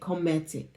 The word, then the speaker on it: Kemetic: And personally, I've been receiving transmissions that they're very clear that this is the Kemetic is how they say it. Kemetic. So comet, like a comet.